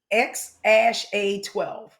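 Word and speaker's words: X Æ A-12: And the name is actually pronounced X ash A12.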